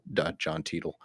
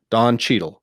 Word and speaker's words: Don Cheadle: think of what's that television show that John Tiedel, um, what now I forgot his name because I was saying it wrong. Don Cheadle.